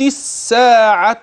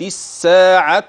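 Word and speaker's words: الساعة: وانشق القمر كلمه الساعه انتبه عمليا الى وجود الالف واللام رسما ولكن لا نطق لهما وصلا اما اذا ابتدات فستقول الساعه وليس بمحل ابتداء ولكن تنبه فاللام مع كتابتها لا يتلفظ بها اذا كيف يكون نطق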